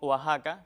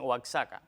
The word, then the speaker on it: Oaxaca: Esto se aplicaría también en otros topónimos que cumplen con esta característica, y es Texas, que a veces dicen impropiamente Texas, y también con Oaxaca, que a veces dicen Oaxaca. Lo apropiado es México, Texas y Oaxaca.